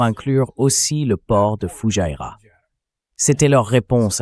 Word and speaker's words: Fujairah: Je le prononce bien? Fujairah.